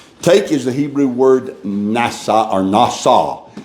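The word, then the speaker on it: נשא: Take is the Hebrew word nasa or nasa. It's spelled N-A-S-A. Pronounced nasa.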